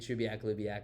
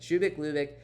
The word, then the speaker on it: Shubeik Lubeik: video, but um so uh Shubik Lubik, which I had to again write at the top because I have been mispronouncing the title of this book for a long time after also telling a bunch of people to read Shubak Lubak, but Shubik Lubek, the highest ranked thing I've reviewed so far.